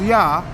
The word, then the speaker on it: Yah: Okay, the name of the Most High is Yah. It could be I-A or Y-A-H, either way you want to spell it.